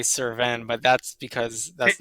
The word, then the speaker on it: Cerven: it one more time Servin kind of like an like an in at the end um that's just how I say it though suren is honestly probably like the proper way to say it um that it sounds